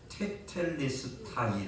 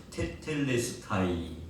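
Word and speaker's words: Τετέλεσται: 이루었다고 하신 말씀을 어이 고대 그리스도로 발음을 하면은 제목의 말씀에 기록되는 대로 테텔레스타이 아고 발음을 합니다 한번 따라합시다 테텔레스타이 테텔레스타이 다시 한번 테텔레스타이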